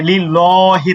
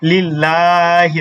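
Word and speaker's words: لِلَّهِ: আমরা যখন মিছিলের সময় হচ্ছে কি দেই তাকবীর দেই আমরা কি বলি যে লিল্লাহি তাকবীর তাই কি বলি না আমরা কি বলি লিল্লাহি তাকবীর মানে কি লামটাকে আমরা চিকন করে পড়ি ঠিক আছে লামটাকে আমরা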